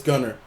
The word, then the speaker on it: Gunnar: I just can't pronounce his name, so. It's Gunnar, cuz. It's Gunnar.